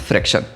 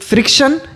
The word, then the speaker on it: fraction: What is फ्रैक्शन, दो words होते हैं, कई बार बच्चे गलत प्रोनाउंसिएशन भी करते हैं। एक फ्रिक्शन, एक फ्रैक्शन। फ्रैक्शन होता है वो मैथ्स में होता है, फ्रिक्शन होता है वो साइंस में होता है। तो आपको प्रोनाउंसिएशन पे भी ध्यान देना है। इट इज़ नॉट फ्रिक्शन, इट इज़ फ्रैक्शन।